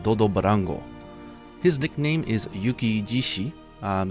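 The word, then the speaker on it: 雪獅子: barango his nickname is Yuki jishi um this is actually coming off of shishi but because it's a compound word it's just pronounced Yuki jishi which means Snow Lion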